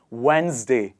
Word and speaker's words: Wednesday: it wednesday or wednesday the quick trick is you remove the d sound and you add the z sound here and it becomes wednesday not wednesday so let's do it